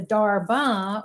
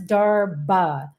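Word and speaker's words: darbha: want to show you the difference between the darba which is the grass that you offer or we offer to the ancestors so this is darba d h a r b a uh is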